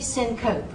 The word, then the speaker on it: syncope: So notice syncope. I did not say syncope. Syncope. Syncope.